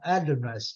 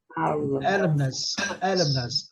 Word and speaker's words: alumnus: A pronúncia, gente, olha. Gente, eu sempre lembro vocês da pronúncia. Olha para você ver aqui. Qual que é a sílaba forte, né? Lá, né? Alumnus. Esse aqui, ele não tem muita força, não. Alumnus. Tá vendo? Alumnus.